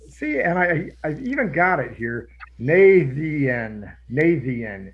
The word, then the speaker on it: Naitiath: You guys have landed in, I even got it here, Naitiath is how I'm pronouncing it.